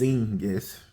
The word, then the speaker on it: Xegis: Now, Xengis, which is spelled with an X, Xegis, is pronounced Xengis with the Z.